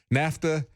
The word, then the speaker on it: NAFTA: as my wife uh said, you know, somebody from New York, NAFTA rhymes with disaster, you know, that's the